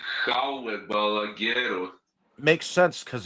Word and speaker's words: Jaume Balagueró: It says he is Spanish, so it would be Jaume Balagueró. Makes sense because it's a Spanish film. Yeah, I didn't know that. Written by Jose Carlos Somoza, Jaume Balagueró, and Fernando Navarro.